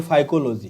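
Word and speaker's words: phycology: Spelling भी देख लो। ऐसा नहीं इसको आप साइको या फैजियो पढ़ते रहो। यह फाइकोलॉजी है।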